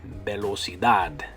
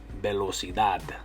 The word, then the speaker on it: velocidad: Okay, and like with this one, in English it ends with TY, velocity, velocity, and with the TY in Spanish it's going to end with the DAD, velocidad, velocidad.